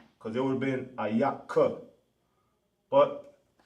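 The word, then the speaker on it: איך: How in Hebrew is ayak. Ayak. Just like I said, I'm not always going to give you, I'll pronounce it to you, but you got to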